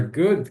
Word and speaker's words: good: A pronúncia dos dois Os aqui na palavra good é o som do O, igual em avô.